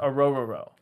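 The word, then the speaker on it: Orhorhoro: h o r o that's actually how you pronounce it aoro AO sounds like a mouthful but he's uh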